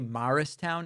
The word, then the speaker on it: Morristown: And I stopped I stopped in an incredible place called Morristown, New Jersey. Some say Marristown, I say Morristown.